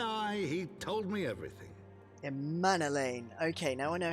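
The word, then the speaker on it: Emmanellain: elaine's life aye aye he told me everything a man elaine okay now i know how to say it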